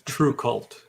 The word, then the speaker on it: TRVE KVLT: It's True Cult, because in the heavy metal community, it is kind of hip to use V's as U's.